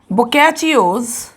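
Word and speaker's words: Boccaccio: तो इसका सोर्स है बोकैचियोज, इसे बोकैचियो प्रोनाउंस करते हैं, बोकैचियोज डेकामेरॉन।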